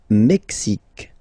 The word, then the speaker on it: Mexique: Le Mexique, le Mexique. Mexique. It's really the X. Huh? Le Mexique. And then remember this Q-U-E, it's only K.